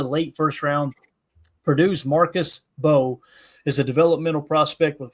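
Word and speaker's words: Mbow: I've heard people say it's Bo. I've heard people say it's Mbo. What are you guys saying? The M is silent.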